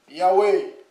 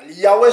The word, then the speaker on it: Yahweh: Yahweh, c'est le nom, c'est la prononciation qui se rapproche le plus, hein, qui est plus près. Voilà. Parce qu'on a perdu la prononciation exacte.